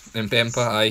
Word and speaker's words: Mbemba: getting a centre-half in return with, is it Mbemba you call him? Yeah, Chancellor Mbemba, yeah. That's it, I couldn't pronounce his name. Right, so it's Mbemba.